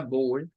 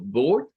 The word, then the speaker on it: board: Ahora, ya habíamos visto que la palabra board puede tener dos pronunciaciones, una con la pronunciación OU y otra con la pronunciación del stop glottal en la O. O sea, podemos decirlo como board o como board.